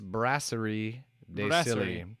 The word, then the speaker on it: Brasserie de Silly: I used to be a beer salesman many moons ago when I was a wee lad, and it's actually pronounced Brasserie de Silly.